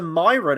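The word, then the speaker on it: Mairan: know the truth yeah oh it's it's a Myron apparently I'm sorry we will wait how do you spell that we're bringing Sauron into this now apparently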